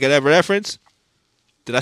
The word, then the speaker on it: Evanescence: like you saying you getting into, like an Evanescence.